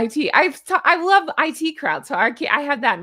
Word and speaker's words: The IT Crowd: In fact, leave me your favorite quote from the IT crowd. See, now I'm pronouncing them both wrong. It's It Cosmetics and IT crowd.